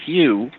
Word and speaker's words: HU: You can chant the word hue, which is pronounced like hue is in the color hue.